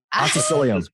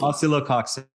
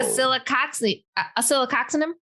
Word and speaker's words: Oscillococcinum: It's oscillococcinum. Oh. Oscillococcinum? Oscillococcinum, yeah. Oh, okay. We get the cox in there.